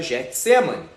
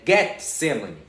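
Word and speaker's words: Getsêmani: Se você pronunciá-la da maneira correta, as pessoas vão achar que você está falando errado. Por quê? Porque nós ouvimos a vida toda Getsemane. E não é Getsemane, é Getsemane. Getsemane.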